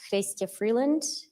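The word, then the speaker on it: Chrystia Freeland: the record please State your full name and spell it out my name is Christia Freeland c-h-r-y-s-t-i-a Freeland f-r-e-e-l-a-n-d do you swear that the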